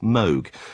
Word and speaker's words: Moog: 20th century is commonly referred to as the Moog synthesizer. Though in sharing its inventor's name, the instrument should really should be pronounced Moog.